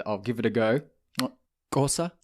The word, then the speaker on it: Xhosa: Xhosa? Xhosa.